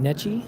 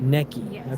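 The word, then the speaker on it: Necchi: And how do you Is it Nechi? Is that Neki? Neki. Okay. I always mispronounce words. My wife makes fun of me. It is an Italian brand, so more accent in it.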